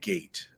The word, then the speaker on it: gait: He has a rather wide gait, I would say. That's a really big step right there. Gait. Notice how it's spelled. It's not spelled like the fence thing, Gate.